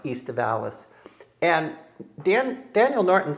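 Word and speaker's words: aestivalis: It's the the Latin term would be pronounced east of Alalis.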